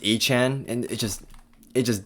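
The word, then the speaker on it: Achane: to me I mean I might say aan throughout this game but it is pronounced Anan and it just it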